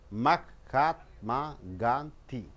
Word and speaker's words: Mahatma Gandhi: right five five syllables Mac cop ma ghanti which syllable you have to give stress mahatma gandhi's a noun hmm maha the first syllable should be stressed because it's a known